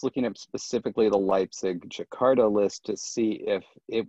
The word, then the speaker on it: Jakarta: Oh, I would just say Jakarta, because it's a city that still exists, and we have a pronunciation for it in English, right?